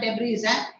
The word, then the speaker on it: debris: Debris, not debris, debris, not debris. Debris. Debris, S is silent.